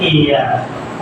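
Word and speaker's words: heir: हेयर, यानी इसे हेयर ना कह करके इसे कहते हैं एयर, उत्तराधिकारी, एयर, तो इससे पहले भी क्या लगाएंगे, एन।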